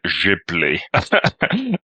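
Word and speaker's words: Ghibli: just outside Tokyo and the tour guide told us to pronounce it jibli I think it's like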